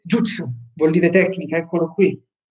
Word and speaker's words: jutsu: Per rispondere una volta per tutte, Luigi Giudice, la differenza è solo che gli occidentali hanno inteso jitsu e lo pronunciano così, ma è sbagliato. In giapponese si legge jutsu, vuol dire tecnica, eccolo qui.